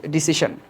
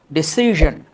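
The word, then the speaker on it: decision: পরটা খেয়াল করো, আমরা বলি ডিসিশন, কিন্তু দেখো উচ্চারণটা কী দিয়েছে, এটা হবে তোমার ডিসিশন, ডিসিশন, নট ডিসিশন, কি বলবো, ডিসিশন, ডিসিশন।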